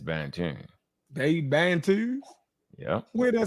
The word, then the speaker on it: Bantu: They Bantus? Yeah. Where'd I say that at? Right there. Am I saying it right? Bantu.